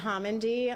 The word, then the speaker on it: Homendy: The last name is spelled Homendy. Chair? Good evening. Again, my name is Jennifer Homendy.